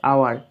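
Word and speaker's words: hour: তারপরে বিটা দেখো ডশ আওয়ার এখানে শূন্যস্থানের পরের অক্ষরটা রয়েছে এইচ এটা কনসোনেন্ট কিন্তু এইচটার কোন উচ্চারণ নেই আওয়ার থেকে উচ্চারণটা হচ্ছে তাহলে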